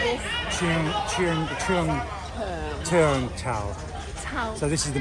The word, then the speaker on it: Cheung Chau: Okay, I'm trying to get this pronunciation correct. I like this. Cheung Chau.